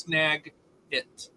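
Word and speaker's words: Snagit: okay s n a space i t it's pronounced snag it and it's a tool we use at work snag it the first time I heard that though my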